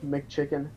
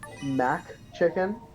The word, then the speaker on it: McChicken: There was a and I hate the people that pronounce McChicken Mac chicken. I'm like, no. It's okay. For one thing, it's McDonald's, so why would it be Mac Chicken?